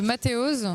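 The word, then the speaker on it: Mateoz: des tours de magie, c'est au nom de Mathéoz. Ça s'écrit M-A-T-E-O-Z.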